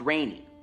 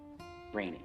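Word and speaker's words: René: Pronounced Rainy. Rainy, yes.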